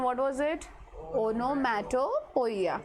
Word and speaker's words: onomatopoeia: Onomatopoeia. Pronunciation is onomatopoeia.